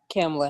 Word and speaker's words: Kamala: And now we have Kamala Harris.